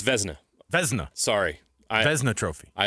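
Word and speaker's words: Vezina: By the way, we got corrected on the pronunciation of the uh of the Venza trophy. It's It's Vzna.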